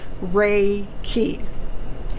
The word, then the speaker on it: Reiki: it is the mirror fact of the word ray key re how to spell it r e i k i ray r